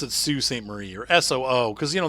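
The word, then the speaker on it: Sault Ste. Marie: text and drive it's so pretty yeah they pronounced it sue st. Marie you're soo because you know that you guys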